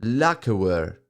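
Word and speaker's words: lacquerware: Lacaware. Lacaware. Okay, fair enough. Now I know how to pronounce it.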